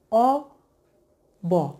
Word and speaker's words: of: বাট আমরা যদি অফ বলি তাহলে সেটা হয়ে যাবে ও ডাবল এফ। সোর্স হিসেবে তোমাদেরকে যেতে বলবো ক্যামব্রিজ ডিকশনারিতে অথবা অক্সফোর্ড ডিকশনারিতে, সেখানে গিয়ে শুনে নিতে পারো লিসেনিংটা, যে এটা উচ্চারণটা কী, সঠিক উচ্চারণ কী। এটা হচ্ছে অ ব অর্থাৎ অব।